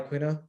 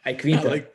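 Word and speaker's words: Iaquinta: Why do you keep saying his name like that? Iquinta. I like Quina. I don't think that's not how you pronounce his name. All right, like how Khabib says, Iquinta. Yeah, Iquinta.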